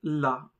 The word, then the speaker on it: la: The pronunciation is la. For example, la.